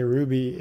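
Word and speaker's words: RWBY: it might be but the way I'm spelling Ruby when I say Ruby Oh rwb why yeah it's that's how it's spelled yeah because it's an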